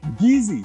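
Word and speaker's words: Kissi: like gullah and the geezy spell k-i-s-s but pronounced geezy sounds a lot like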